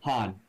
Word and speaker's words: Han: Let's check in with the Hot Wheels spokesperson here and that would be Ham. am I pronouncing your right your name right? Hi. Um Han. Han.